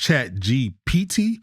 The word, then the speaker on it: ChatGPT: Now, we call it Chat GBT. I think it's pronounced Chat GPT, but we call it Chat GBT.